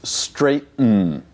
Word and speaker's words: straighten: surprised it is confusing if you just listen to our verb here we spell it ght en so many students expect straight n and maybe it should be but it isn't it's straighten this sound we find